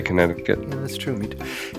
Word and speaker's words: Connecticut: okay so Jim says do you pronounce the Middle Sea in Connecticut or do you skip over overi I actually do not pronounce it uh my wife says I do let me try connect